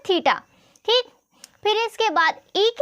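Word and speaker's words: theta: इसको हम θ बोलते हैं क्या बोलते हैं तीता ठीक फिर इसके बाद एक ही तरह जो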